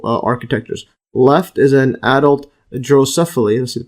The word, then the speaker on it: Drosophila: Left is an adult drosophila. Let's see the pronunciation.